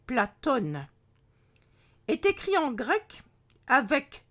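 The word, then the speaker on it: Πλάτων: Ainsi, le nom du philosophe grec Platon, à prononcer Platone, est écrit en grec avec le grand O, dit oméga, qui n'existe pas en arabe.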